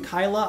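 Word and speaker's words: Kailh: know anything about kale some people pronounce them Kyla I don't think that's how you pronounce it but I I say kale I think that's the correct way maybe not the last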